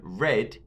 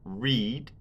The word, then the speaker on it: read: But there is a change when read is pronounced in the past tense. The long E in the present, read, changes to a short E, read.